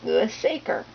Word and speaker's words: Louis Sachar: author and found out that his name is Louis saer so Louis saer is an author that has